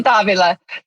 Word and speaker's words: Davila: But people get very creative with Davila. Really? How do they pronounce it? Davila. And then they get nervous that they're saying it wrong. So then they'll put the emphasis like the Vila. They're like, they break it into two words.